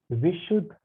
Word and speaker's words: Vishuddha: So we will proceed with the next now, that is our Vishuddha chakra or throat chakra. I will clear this out. Number fifth chakra, Vishuddhi or Vishuddha chakra. A is silent.